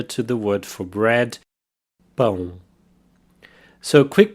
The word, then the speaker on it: pão: The word for bread, pão. Here we have the nasal sound, pão, pão.